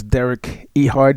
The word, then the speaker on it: Derek Ehard: introduce Our Guest this morning his name is Derek ehard did I pronounce it right sir yes you did yeah